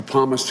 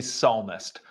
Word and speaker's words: psalmist: Now, clearly, he's trying to say psalmist from the book of Psalms in the Bible, which is kind of an honest mistake because it is spelled weird. That's not weird, but there's a P. You know, he should be used to having a silent P, as Jen Psaki is